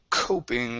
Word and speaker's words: coping: Next up is the word coping. Where'd you go? Coping. Okay, right here. This is a long O.